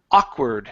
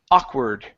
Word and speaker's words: awkward: we have the word awkward stress at the beginning awkward awward good one more time awkward aord okay good this